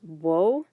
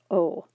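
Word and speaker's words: を: object particle o remember even though it's romanized as woe very few people pronounce it as woe almost always pronounced as oh bay in japanese is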